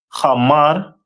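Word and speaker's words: חמור: And their symbol is a donkey, which is pronounced in the Hebrew as Hamar.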